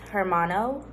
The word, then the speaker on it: hermano: It's hermano.